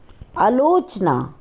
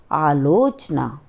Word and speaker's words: आलोचना: शब्द होता है आवश्यकता अलोचना शब्द होता है हमारा आलोचना नाराज शब्द होता है